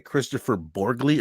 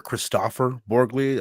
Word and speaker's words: Kristoffer Borgli: It's directed by Kristoffer Borgli or Kristoffer Borgli, I believe how it's pronounced.